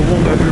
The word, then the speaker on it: Whangaehu: So here we are approaching the Wangnaui River, which is spelled Whangaehu, and that goes up to Tangiwai, where the Tangiwai disaster was years and years ago.